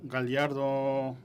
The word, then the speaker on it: Gallardo: República Dominicana, y también su excelencia Roberto Gallardo, ¿es correcto? Porque la L y la Y son un poquito diferentes, me complace que lo pronuncie bien.